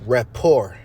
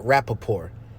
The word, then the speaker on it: rapport: the rappaport steady and it's actually rapport not rappaport i butchered the out of that word right there i hope i said